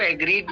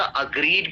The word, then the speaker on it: agreed: हाँ, इसको पहले तो इसको एग्रीड नहीं भैया, अग्रीड प्रोनाउंस किया. अग्रीड, नॉट एग्रीड.